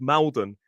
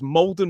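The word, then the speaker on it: Maldon: Now, this is an interesting one because Molden is spelled M A L. I always thought this was Malden, but it's Molden Mudra Race.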